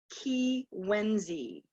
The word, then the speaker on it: Kiiwenzii: k III w en Z III and it's pronounced ki when Z so in my tribal way and in most